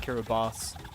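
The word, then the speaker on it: Kiribati: in Kiraabas. You, if you don't understand what that means, uh, you know those islands, um, like right near the international daylight, it's spelled Kiraabati, but spel it's pronounced Kiraabas.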